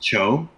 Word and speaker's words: Tio: oh man so the Tio is pronounced Cho oh um yeah one